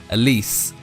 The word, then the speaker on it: Elise: pronounce her name wrong elise is how i've been told i need to say it so uh elise is